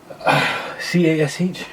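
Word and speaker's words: Kash: i spell that bro cas h wow he's got that money now yeah i'm catching aka cash with a k and not a c sorry that i never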